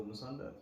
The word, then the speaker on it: Musonda: I mean, my mother tongue is Bemba. Okay. But I can't speak Bemba, so I'm sure my pronunciation is very much bullshit. Yeah. So I just go Musonda, perfectly fine.